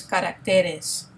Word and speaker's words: caracteres: It has a shift in the tonic syllable, which is really interesting because we have the accent over the second L, and when it becomes plural, the tonic syllable changes. So, you just want to make note of that in your pronunciation and also when you're writing.